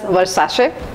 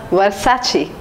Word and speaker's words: Versace: brand long back in childhood I used to pronounce as Versace it was wrong it is pronounced as Versace the last one and the toughest pronunciation for